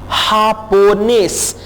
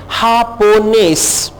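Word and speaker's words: japonés: हापोनेस, अब स्पेनिश में जे को हम ह में प्रोनाउंस कर रहे हैं, हापोनेस।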